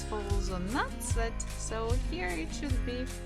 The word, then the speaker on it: надцать: Actually, when we are pronouncing this second part, надцать, we actually don't have to say letter the. We can just say надцать, одиннадцать, одиннадцать, одиннадцать, одиннадцать, 11.